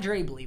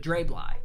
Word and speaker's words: Dre Bly: you guys were saying his name is pronounced dre bly not drably but dray bly but his last name